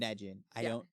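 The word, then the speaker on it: Ynegen: So I want to say Ojin and Nejin. That just makes the most sense to me.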